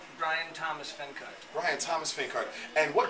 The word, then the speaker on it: Bryan Thomas Fenkart: Bryan Thomas Fenkart.